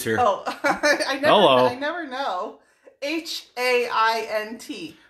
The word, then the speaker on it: Haint: H-A-I-N-T. Like paint, but replace the P with an H. Oh, ooh. Like paint, but Haint.